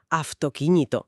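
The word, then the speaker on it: αυτοκίνητο: el sol eternamente, porque allí pronuncian aftoquíñito. Totalmente. Aftoquiñito, con una F marcadísima, ¿sí? Es que es fortísimo. Esa U, de repente y de forma casi mágica, suena como una F.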